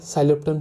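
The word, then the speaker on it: Psilotum: पी से आपका साइलोप्टन, P silent है, ठीक है, पर याद रखना है।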